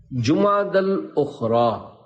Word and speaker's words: جمادی الاخری: جبکہ یہاں تیسرا نہیں۔ لغت کے اعتبار سے ان دونوں مہینوں کے درست نام اور صحیح تلفظ یہ ہے، جمادی الاولی، جمادی الاخری اور جمادی الاخرہ۔ پیارے پیارے اسلامی بھائیوں،